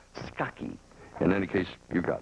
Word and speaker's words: Scacchi: We checked with her today, and apparently it's pronounced Scacchi.